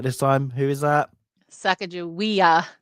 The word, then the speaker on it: Sacagawea: Sacagawea, not Sacagawea, Sacagawea.